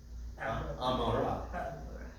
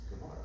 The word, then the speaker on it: Gomorrah: a very old siddur with a transliteration, the ayin was replaced with the letter G. Yeah, for sure. That's right. Sodom and Amorah. But it's Gomorrah, right?